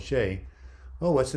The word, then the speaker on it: Shay: Man, it's pronounced like it's spelled, Shay.